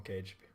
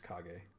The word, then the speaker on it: Kage: just call him cage i call him cage and then one of my friends was like dude he's japanese obviously he's a ninja his name is kage and i was like no it's cage it's spelled caged that's it was pretty bad i've been sent by